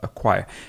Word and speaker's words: acquire: It actually sounds like if I wrote this, give me a second, a choir, a person who sings in a choir. So those two words, or those two, the choir and acquire would be homophones. They sound the same.